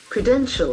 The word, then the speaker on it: credential: like as a noun credential credential credential there are three syllables credential and Accent fors on the second syllable credential credential the abilities